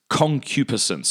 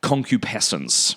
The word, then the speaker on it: concupiscence: And the word that Aquinas uses is concupiscence. Concupiscence, or sometimes it's pronounced concupiscence.